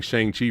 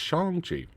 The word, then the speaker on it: Shang-Chi: shang chi excuse me i gotta say it correctly um i've been saying shang chi for years but it's shangji and both of them